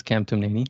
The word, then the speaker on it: Kamtamneni: My last name is a little challenging. It's Kamtamneni. It's 4 syllables.